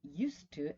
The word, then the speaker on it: used to: Now, used to, actually, right? We're going to pronounce it with an S, right?